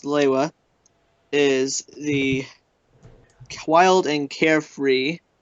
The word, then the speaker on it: Lewa: Toa Liwa, also officially pronounced Lewa, is the wild and carefree, much like his element, Toa of air.